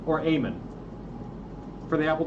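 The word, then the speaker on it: Eamon: He developed it in Eman or Aean for the Apple 2.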